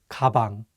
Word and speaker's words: 가방: Let's break it down with the word 가방, which means bag. Usually, the consonant 기억 sounds like an English G. However, if it's at the beginning of the word, it takes on the English K sound, 가방.